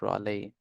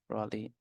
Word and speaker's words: Raleigh: It's actually pronounced Raleigh. Raleigh.